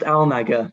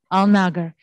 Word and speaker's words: Alnagger: How do you pronounce it? Yes, it's just Alnagger. Not too unexpected. Alnagger.